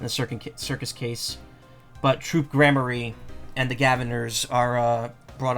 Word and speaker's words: Gramarye: That being said, it's not Garmarye. I'm pretty sure it's Gramarye. Yeah, G-R-A-M.